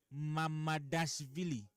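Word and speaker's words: Mamardashvili: Mamadashvili. Do you know how to pronounce it?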